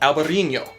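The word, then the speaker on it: Albariño: In Portugal, it's called Alvarinho. Oh, didn't focus. And in Spain, it's called Alvarinho. Same grape, just two slight variances in pronunciation.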